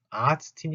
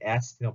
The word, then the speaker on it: Ärztin: 아츠틴이 아니라 얘는 에아츠틴하고 발음 달라지는 거 얘기했을 거예요.